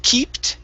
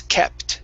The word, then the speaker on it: kept: Instead of keeped, it's kept. Short E.